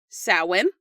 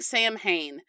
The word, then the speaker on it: Samhain: they celebrated a holiday called sawin and it is spelled s a m h a i n it looks like Sam Hayne and while doing the research I don't know how many times I said Sam Hayne in my head while